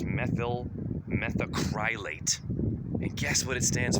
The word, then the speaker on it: methyl methacrylate: methyl methacarylate. I can't pronounce this shit. It's methyl methacrylate.